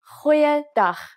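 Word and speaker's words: goeie: let's try that again try pronouncing it from the back of your throat hoya so what has actually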